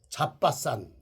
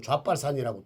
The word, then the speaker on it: 잣밭산: 그 산이 잣밭산, 산에 올라가면 왜 우리가 잣을 따먹는다 그러잖아요. 근데 어떤 일에 들으면 잣발산이라고 또 이렇게 또 할지 모르니까 잣밭산. 예, 발음 잘못하면 잣발산이죠. 잣발산.